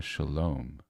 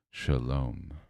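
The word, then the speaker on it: שלום: Shalom. Shalom. At the end, right? The m really brings it in.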